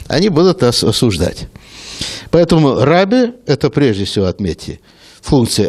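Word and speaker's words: רבי: Что означает раби? Раби, слово на иврите означает учитель, арамейский аналог равуни, мой учитель, равин – это русское произношение, по-английски «рэбай».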